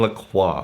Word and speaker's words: La Croix: wash it down with like I call it LaCroix, it's pronounced La Croix, but like a carbonated water.